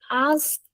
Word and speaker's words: asked: Not, you need to pronounce this. Okay? Walked. For TV company, we asked them Not for no, asked.